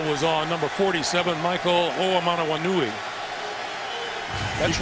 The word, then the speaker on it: Oamanawanui: I believe the call was on number 47, Michael Oamanawanui.